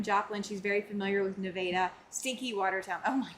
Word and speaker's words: Nevada: Um the first A is a long A, not pronounced like the state. Oh, okay. Um Oh, Nevada. Okay. Nevada, Missouri.